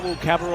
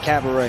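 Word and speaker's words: Cabarrot: say his name because his name is not cabaret and that's not a cabernet it's not cabaret or cabernet and the rebound will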